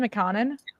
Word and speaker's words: McConnon: they're talking about Andrew McConnon. Is that the right? Sorry. That's right. No. Is that the right way to say his last name, McConnon? Yeah. And this is Wakita 54.